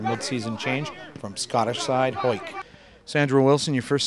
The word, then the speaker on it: Hawick: It's been a big year for you, starting off in Scotland at Hawick, and then, what was it, Hawick? Hoik. Those Scottish pronounced things funny.